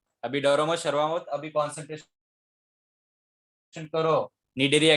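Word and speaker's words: Cnidaria: अभी डरो मत, शर्माओ मत, अभी डरो मत, शर्माओ मत, अभी कॉन्सेंट्रेशन करो निडेरिया की तरफ, फाइलम निडेरिया। देखो यहाँ पर सी है ना, वो क्या हो जाता है, साइलेंट हो जाता है।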